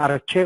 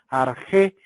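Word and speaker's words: ἀρχή: algunos libros le llaman arché, otros le llaman arjé con X o arché, ¿verdad? Recuerden que la letra X dije que se leía como una J.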